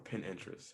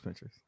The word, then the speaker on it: Pinterest: Um, so I do that and the playlist, phone on airplane mode, uh, Pinterest or pin interest, however it's Yeah, it's pronounced. Pinterest. It's Pinterest.